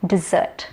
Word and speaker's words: dessert: Desert, no, dessert. The other one with sand dunes is desert. Deserts in Dubai are very popular around the world.